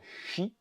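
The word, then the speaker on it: 四: dans la culture asiatique le 4 est synonyme de mort puisque ça ça prononce Chi et donc Chi et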